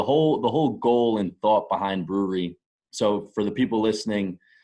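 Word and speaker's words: BrewRE: But for the people listening, it's brewery. So it's obviously a play on words with like a brewery. It's spelled BREW-RE, and the RE at the end stands for real estate.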